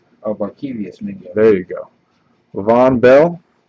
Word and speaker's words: Barkevious Mingo: I still can never pronounce this guy's name right. Benjarvis Mingo. Oh, Barkevious Mingo.